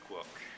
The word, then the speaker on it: Le-Quoc: mess it up uh my last name is pronounced Lor that's right and so uh